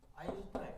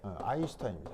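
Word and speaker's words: Einstein: 바로 아인슈타인. 아인슈타인입니다. 뭐야 이거 지금. 아인슈타인입니다. 독일어로 아인 이 일이고요. 이게 그 S가 쉬 발음이 나거든요. 독일어에서 그래서 슈타인입니다.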